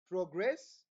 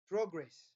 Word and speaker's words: progress: what a noun and when you stress the last part of the word that word is what is a verb are we together there for example we have this one progress and uh progress are we together this